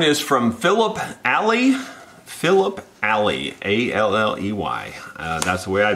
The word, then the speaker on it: Alley: Philip Alley, A-L-L-E-Y. That's the way I pronounce it.